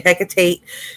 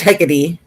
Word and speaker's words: Hecate: This is Hecate, but it's stupid how they say it, but it's hectate. But anyway, tomato.